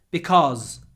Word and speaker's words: because: about cause and because so cause has a long or sound with a z at the end cause cause try to make it at least two sounds co co cause cause but because is a short op sound because because because because cause because cause because so be careful with those two words right 157 I can